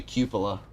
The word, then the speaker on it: cupola: It's actually cupola. Okay. That's how it's pronounced.